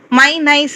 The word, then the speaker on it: MyNISE: இது மலேசியாவின் புதிய தேசிய ஒருங்கிணைந்த குடிநுழைவு முறையான MyNISE pronounced MyNICE சோதனை திட்டத்தின் ஒரு பகுதியாகும்.